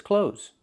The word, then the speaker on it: clothes: This word is clothes. Do not pronounce the TH. It's not clothes, it's clothes. It's pronounced the same as the word close, as in close the door.